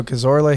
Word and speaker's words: Cazorla: name one more time the film trainer marco cazorla here cazorla i saw it i'm like i'm